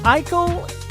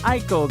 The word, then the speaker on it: Eichel: it miss uh alicia ako ikel is how you say her last name i've been saying it wrong for a long time it is alicia eichel go out and check